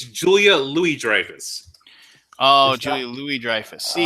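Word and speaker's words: Julia Louis-Dreyfus: four people doing nothing in New York on Julia Louise Lance stus that is incorrect Lance oh uh you know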